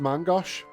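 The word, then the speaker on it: main-gauche: It's pronounced Mangosh.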